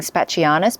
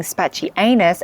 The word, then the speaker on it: spachianus: include tros serus spachianus I have to get into the habit of saying spachianus because I've been saying spaty anus and let's be honest